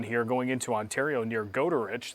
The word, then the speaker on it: Goderich: If you look across Lake Huron here going into Ontario near Goderich, that's not Goodrich. A lot of people tell me that Goodrich is at the wrong spot on the map. That's actually Goderich. Might be pronouncing it incorrectly,